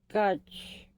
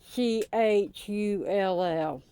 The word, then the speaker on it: Schull: Her name is Amanda Scotch. I'm not saying it right. Schull.